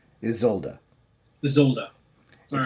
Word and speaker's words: Isolde: It's basically broken up as Izolduh.